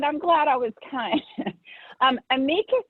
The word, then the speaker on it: amicus: Amicus is actually the correct pronunciation, but it's so commonly mispronounced that the way that you pronounced it is acceptable. Very few people would realize that you weren't pronouncing it correctly.